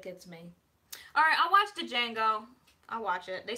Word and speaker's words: Django: Oh, the D is silent, so it's Django? What did you say, Django?